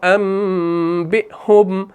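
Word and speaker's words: أَنْبِئْهُمْ: تو ہم پڑھتے ہیں قال یا آدم انبئہم، انبئہم. ہم نہیں پڑھتے ہیں انبئہم، نون کو نہیں ظاہر کرتے بلکہ میم کو پڑھتے ہیں.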